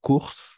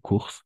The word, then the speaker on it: cours: Cours, solo vamos a pronunciar cours. Igual, esto es como el ton, siempre va a tener S al final. Tengo clases de francés. Je cours. ¿D'accord? No se pronuncia la S. Solo está la R. Cours. Y no course.